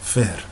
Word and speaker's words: Fihr: himself, whose name is Fihr with the fa, f sound, and h, ha sound, and the ra sound, Fihr.